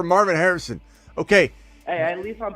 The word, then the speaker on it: Marvin Harrison: just say yeah marvon marvon Harris say his name again marvon marvon Harris yes sir you like Marvin and Harris I like it better show some respect for Marvin Harrison okay hey at least